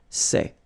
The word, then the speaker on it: sais: Here you write it S-A-I-T, okay, but then phonetically these three forms are the same, and it's c'est, okay?